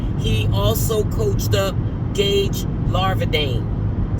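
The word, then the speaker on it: Larvadain: also coached up Gage Larvadane. Sometimes I say his name wrong. Lardian. It's Larvadane.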